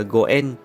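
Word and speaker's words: 五円: Đồng xu phổ biến nhất để cầu nguyện ở Nhật là đồng 5 yên, vì trong tiếng Nhật 5 yên đọc là Goen, mà en cũng có nghĩa là nhân duyên, nên thảy 5 yên vào là cầu cho có duyên tốt.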